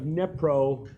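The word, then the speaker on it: Dnipro: um the city of nepro in Ukraine it's spelled d-n-i-p-r-o apparently the D is silent because none of those people ever use it oh and so we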